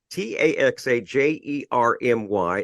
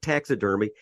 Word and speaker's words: TaxaJermy: Now, that is spelled TaxaJermy. It's not taxidermy, and it's not tax attorney.